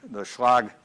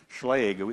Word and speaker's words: Schlage: which was developed by the Schlag Schlage as we pronounce it lock company and